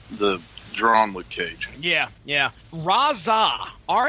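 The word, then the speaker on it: Rahzzah: Mike Colter and the drama cage yeah yeah razza ra h z za h is the name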